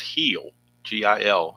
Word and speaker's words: Gil: I think it's pronounced Gil, Gil. It's usually pronounced Heel when I see it spelled that way. So I'm going to go with Luis Gil against James Paxton for the Dodgers.